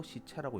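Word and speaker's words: 柿蒂: 제자라고 쓰고 읽기를 채라 읽습니다. 그러니까 시제라고 쓰고 시채라고 읽는 거죠.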